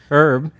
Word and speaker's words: Herb: you herb because like when you talk about herbs the H is silent but for names its herb right does that annoy you